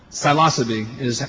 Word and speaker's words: Psilocybe: Okay, well, pronunciation, the correct pronunciation in Latin is only that which is said with authority. So, psilocybe is how American mycologists pronounce it. Psilocybe would probably be more truthful to the Greek, but it's an ancient word, and the original pronunciation is not well known. Psilocybe is preferred.